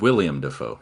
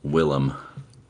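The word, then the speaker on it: Willem: is that's his name William defo I mean you can call him that if you want but that's not his name is that how you spell it no it's w i l l e m Willam okay well um shows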